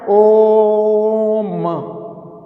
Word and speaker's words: ओम: जैसे कि उच्चारण करते हैं ओम, ओ की आवृत्ति 3 बार हुई, तो इस कारण से यहाँ ओ लुप्त स्वर है।